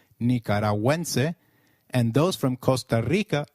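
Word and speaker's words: nicaragüense: on you in nicaraguansea goo when followed by another vowel like in GUI is pronounced like in Gwen so let's try saying nicaraguense again it is nicaraguense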